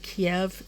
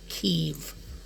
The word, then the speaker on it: Kyiv: A lot of people call it Kyiv. That is not how you pronounce it. It is Kyiv. Like leave, but Kyiv.